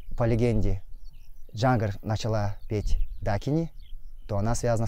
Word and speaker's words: Дакини: Это Арагни Дагни или Дагни. Это вариант произношения санскритского слова Дакини монгольскими народами. Мы произносим слово Дакини как Дагни.